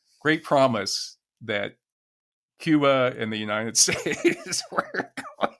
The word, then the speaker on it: Cuba: original inhabitants now extinct is pronounced Kuba by the Islanders and this is not